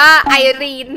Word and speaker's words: ไอรีน: พ ของ นา แล้ว หนู อ่าน ว่า ะ ไอเน่ ไม่ ใช่ นี่ มัน อ่าน ว่า ไอรีน นะ คะ หนู ขอ ถ่าย รูป